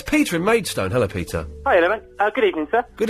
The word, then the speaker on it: Maidstone: I just said Maidstone, and of course it's not, is it? It's Maidstone. Well, however you like it, isn't it? Is it? What's the correct way? You live there. What's the correct way to say it? Well, it's Maidstone if you come from London, of course.